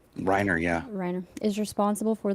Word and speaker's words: Reiner: Reiner, yeah.